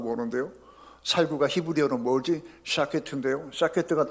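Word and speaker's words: שָׁקֵד: 하나는 SH 사운드고 하나는 S 사운드고 그렇습니다.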